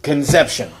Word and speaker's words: Concepcion: His last name, I'm sure it was pronounced Concepcion, but his first name was John, and he pronounced it Conception.